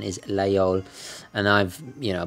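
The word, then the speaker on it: Laguiole: lay all knife or some parts of France pronounced actually with the G there's a they can't really decide themselves but I believe most the predominant pronunciation is lay on and I've you know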